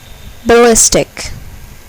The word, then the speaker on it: ballistic: Here, the second syllable is accented. Computer. Ballistic.